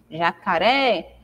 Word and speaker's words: jacaré: caso dessa palavra aí jacaré é um exemplo então a sílaba tônica da palavra é o ré é a última jacaré assim também nós temos